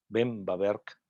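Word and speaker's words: Böhm-Bawerk: ver qué se hace así es como se debería pronunciar el apellido los dos apellidos va a haber ven bawerk él escribió ese libro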